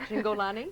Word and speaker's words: Cingolani: Joining us now in the studio is Cats producer Marlene Smith with, now let me say it right, Cingolani. That's it. I've got that right, who plays Rumpleteazer, and Brad Cormier, who plays Mungojerrie.